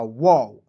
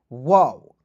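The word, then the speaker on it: wow: दो कंसोनेंट के बीच में ओ आता है तो उसका उच्चारण औ के रूप में करते हैं तो हो जाएगा वाव। वाओ।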